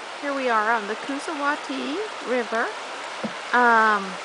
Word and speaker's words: Coosawatee: we are on the cusati river um cusati is how some people pronounce it uh we're going through